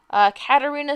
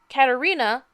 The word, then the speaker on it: Katerina: Caterina Scarsoni, if I'm saying their name correctly, I'm sure it's an Italian name. Katerina, I'm sorry, that's how you say her name.